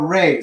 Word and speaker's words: re: Now we're going to go to the next note, which is our re. So here's do. Next syllable is re. Everybody say that. Re. Okay. R-E means re.